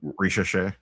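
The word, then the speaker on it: Risacher: Ricochet. Oh, this is, how do you say his name? Ricochet.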